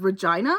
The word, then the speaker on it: Regina: He also mangled Regina which is the name of a city. Regina? I I don't think it was even that. It was more like vagina but with an R.